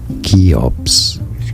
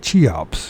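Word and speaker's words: Cheops: channel to learn more how do you say it keops pharaoh and pyramids kops so the pyramid keops I've been calling it chops which is the logical thing to say if you're English but oh well so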